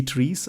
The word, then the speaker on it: trie: before called SE SE trees I think they're still pronounced as trees but written as t r i s I think that's right